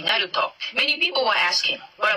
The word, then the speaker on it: Naruto: how to speak better i said that the oral sound doesn't exist in japanese so naruto is actually naruto many people were asking